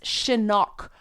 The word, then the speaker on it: Chinook: called Chinook, her, and I mispronounce Chinook all the time. I apologize. Part of it's the Canadian accent. Part of it is there is a place in, I think it's BC, called Chinook, like the Chinook Center, like Chinook salmon. So I always pronounce it wrong. It's Chinook. I know, I just mess it up.